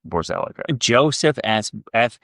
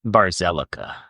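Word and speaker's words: Borzelleca: Borzelica. Joseph. God damn it. Joseph F. Barzelica.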